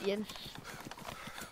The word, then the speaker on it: Jens: pronouncing it, but it's, Jens. Jens? Oh, you did good. Other people just call me Jen. Yeah. Because in like English, we everything's like the J kind of sound instead of like, but